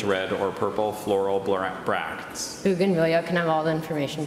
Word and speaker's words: bougainvillea: vines with brilliant red or purple floral brackets Bougainvillea can have all the information please Bougainvillea Bougainvillea bougainvillea bougainvillea is a noun formed in